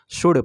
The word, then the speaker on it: should: रखेंगे, तो यहाँ पर शुल्ड नहीं पढ़ेंगे, शुड पढ़ेंगे, तो SHOULD, तो यहाँ पर शुड पढ़ा जाता है।